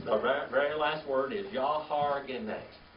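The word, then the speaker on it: יהרגני: The very last word is Yahargene. How do you spell that? Y-A-H-A-R-G-E-N-I, like genie at the end of it. Okay? Yahargene.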